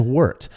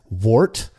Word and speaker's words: wort: that kind of just gets referred to generally as wort. Now, you'll hear a lot of people refer to it as wort. I don't understand that, because to me, warts are pesky things that you try to